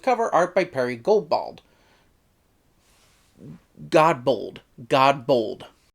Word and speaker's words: Godbold: Godbold. Directed by Gary Russell, with art by Perry Godbold. Okay, I did say it right.